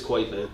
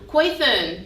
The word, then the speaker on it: Quathon: Yo, I feel like, am I pronouncing your name right? It's Quathon. Quathon. Yeah.